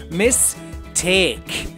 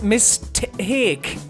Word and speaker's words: Miss Take: be playing The Marvelous mistake I don't know why I pronounce it like that it's not M it's Miss take cuz you play as Miss Sophia take I believe her name